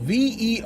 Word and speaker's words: versus: It's spelled V-E-R-S-U-S.